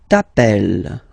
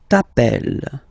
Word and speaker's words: t'appelles: Alright, second form, tu t'appelles. Okay, remember, final S not pronounced. Tu t'appelles.